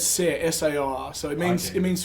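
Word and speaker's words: Saor: was on yeah and i've heard 50 different pronunciations for that you know it's sar so it means it means free in scottish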